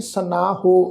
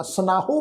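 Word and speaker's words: ਸਨਾਹੁ: सनाहो पाठ नहीं है, ख्याल रखो। इस शब्द का पाठ उच्चारण करांगे सना।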